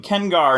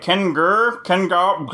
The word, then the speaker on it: Ken Garr: Dude, I have 2 syllables in my name, Ken Garr, and people are like, Ken Garr, like, come on, guys.